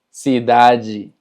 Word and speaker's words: cidade: Ahora, cuando tenemos una palabra que termina con DE, se pronuncia ji. Por ejemplo, felicidade, cidade, verdade, saudade.